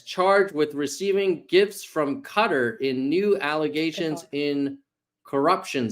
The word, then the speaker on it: Qatar: with receiving gifts from cutter in new allegations in corruption scheme Brandon says it's guar I don't think it's pronounced guitar oh no I didn't say guitar it's cutter I think it's cutter D cutter okay I